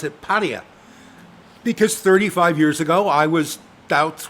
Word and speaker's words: Pattaya: In Thailand, they do tend to, in many of the words, emphasise the final syllable. emphasize the final vowel sound. More than we do. Pattaya, Yeah.